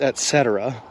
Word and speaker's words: et cetera: I was taught that it was et cetera. Google says it's et cetera. Yeah, it's a soft C.